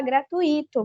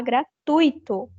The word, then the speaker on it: gratuito: passou por essa aula você não vai mais falar gratuito você vai falar gratuito gratuito se você não vai